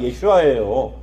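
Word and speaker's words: ישוע: 하셨죠 예슈아라는 이름의 능력이 우리는 예수님이라고 알고 있지만 원래 히브리 원래 발음은 예슈아예요 자 예슈아라는 그 이름의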